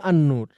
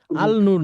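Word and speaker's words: النور: আল আবু আরেকটাকে বলছি আন্ননূর আলনূর না আলনূর হচ্ছে উচ্চারণ করা কঠিন বা এটা ছান্দিক না এটা হচ্ছে ছান্দিক ব্যাপার আর কিছু না যেমন আমরা বাংলায়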